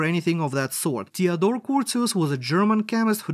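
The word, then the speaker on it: Curtius: remember it once and for all it is pronounced cus rearrangement not courteous or anything of that sort Theodor cus was a German chemist who discovered this reaction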